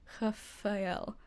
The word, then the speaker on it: Rafael: He was kept telling me I need to say less of an A sound. Rafael.